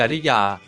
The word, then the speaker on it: กริยา: อ่าน ว่า กรรมวิธี ครับ คำ ที่ 4 คำ ว่า กริยา อ่าน ว่า กริยา หรือ กริยา ก็ ได้ ครับ คำ ที่ 5 คำ